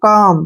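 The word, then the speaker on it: calm: सी ए एल एम यहां पर एम से पहले फिर एल आ गया एल को फिर छोड़ देंगे हम इसको पढ़ेंगे हम काम क्या पढ़ेंगे काम कालम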